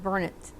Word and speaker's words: Burnett: court is the hamilton burnet exactly i don't think they call themselves that but that's the way it's pronounced but but they should